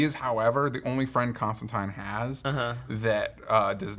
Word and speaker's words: Constantine: time where he says it's Constantine like fine because he's a British accent and that's how you pronounce it but the only other